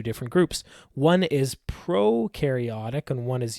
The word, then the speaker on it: prokaryotic: One is prokaryotic and one is eukaryotic. Now, when I say prokaryotic, I'm stealing this from the Amoeba Sisters, okay? Pro rhymes with no, and it means no membrane-bound organelles.